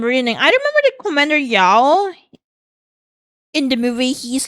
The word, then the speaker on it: Yao: It's pronounced Yao.